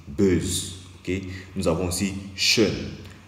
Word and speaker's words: schön: Nous avons aussi schön. Lorsque c'est le O tréma que nous rencontrons, ici la prononciation change. La prononciation ne devient plus O, mais la prononciation devient E.